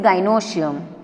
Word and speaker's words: gynoecium: ठीक है, तो सारे पिस्टिल को साथ में गाइनोशियम बोला जाता है. So remember it's pronunciation properly, it इज गाइनोशियम.